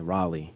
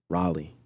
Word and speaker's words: Raleigh: little different areas in Atlanta Raleigh Raleigh okay Raleigh that's how you say it Raleigh there we go Gotta Eat You Gotta Eat